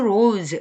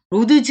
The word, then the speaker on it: roads: take any 이러한 도로들 중에 these roads 이걸 roads 이렇게 하시는 분 없겠죠? roads예요. D하고 S하고 묶여서 Z 발음이 납니다.